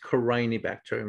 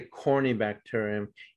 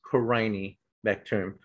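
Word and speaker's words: Corynebacterium: killed a lot of people um and it's pronounced crying bacterium not corny okay so if i hear someone say corny bacterium you know i'll roll my eyes and say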